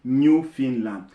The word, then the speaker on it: Newfoundland: find it is spelled Newfoundland but it's actually pronounced New Finland a new reminder University New Finland and Labrador